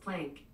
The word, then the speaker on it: Planck: real quick ok Google how do you pronounce PLA and CK that's pronounced plank ok Google can you repeat